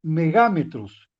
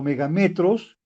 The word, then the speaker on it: megámetros: prefijo mega, entonces tengo megámetros. Es una palabra, por ejemplo, que no hemos escuchado, pero sí los científicos lo utilizan mucho. Entonces, megámetros o megametros, dependiendo de cómo lo pronunciemos, significa que voy a tener 1.000.000 de metros.